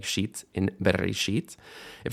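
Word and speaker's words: בראשית: Bereshit, and final stress. Bereshit, not bereshit. You can never have a stress on a shva, and not bereshit, right? That's not correct. Bereshit, final stress there.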